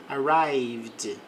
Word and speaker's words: arrived: They arrived late. Então eles chegaram tarde. Não pronuncie o e aqui. Arrived art.